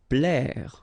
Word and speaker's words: plaire: Plaire. Okay, remember A and E together will produce the sound E, plaire.